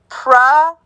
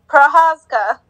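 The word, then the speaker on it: Procházka: And then it's Prahazka. Yuri Proshchaka? Oh, God. Prahazka.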